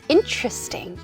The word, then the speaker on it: interesting: 진짜 배광한 흥미로 은 interesting interesting 이잖아요 맞아요 interesting interesting 음절로 발음하는게 맞아요 그런데요 ting ting 이렇게 많이 발음을 하시는 분들도 계십니다 이렇게 발음하면 진짜 많이